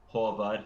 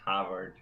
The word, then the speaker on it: Håvard: And double A is pronounced O. Håvard, not Havard.